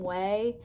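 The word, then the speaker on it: Ouai: get the one from way like if you know the brand way it's spelled like oh it's spelled o-u-a-i yeah that's pronounced way that's how i say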